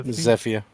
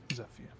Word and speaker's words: Zephia: actually know zapia zapia how is her name pronounced by the way is it zephia pronounced or Z zepia okay zephia how well do you know